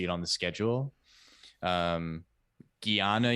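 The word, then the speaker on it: jnana: um Gana yoga which is spelled like J N A N A.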